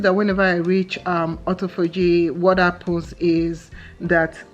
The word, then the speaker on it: autophagy: so i noticed that whenever i reach um autophagy what i pose is that is that how to pronounce it autophagy yeah autophagy okay so um i noticed that